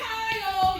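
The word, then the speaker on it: Xiexie: to pick up little x-i-e-x-i-e it's pronounced Kyle you're human manifest little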